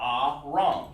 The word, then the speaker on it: Aram: are the series and that's called uh ah wrong that's exactly how it's pronounced ah wrong okay just like that well it's like would do it or case it like we're supposed to ah wrong okay iran not aaron but iran when you see